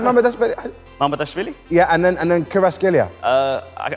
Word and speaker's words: Mamardashvili: How do you pronounce Mamardashvili? Mamardashvili?